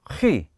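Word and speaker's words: χ: 이건 ... 우리말 의 'k' 와 비슷한데 , ' 치 ' 라고 발음 해야 해 요 . 하지만 구별 하기 위해 독일어 의 'ch' 발음 처럼 'chi' 와 거의 같다 고 생각 하면 됩니다 .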